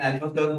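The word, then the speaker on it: Albuquerque: तो अल्बुकर्क ऐसा स्पेलिंग लिखते हैं, अल्बुकर्क ऐसे, लेकिन अल्बुकर्क बोलना है।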